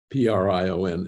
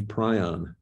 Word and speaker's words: prion: discovery with the birds and pronounce p-r-i-o-n as prion for the infectious prion uh and leave prion for the birds now there are people who pronounce it prion and i can't control